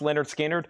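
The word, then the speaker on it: Lynyrd Skynyrd: Also got 1 copy of Leonard Skinner, pronounced Leonard Skinner.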